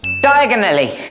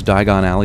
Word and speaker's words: Diagon Alley: Diagonally! Wouldn't Harry have to be, like, American to mispronounce Diagon Alley the way he does?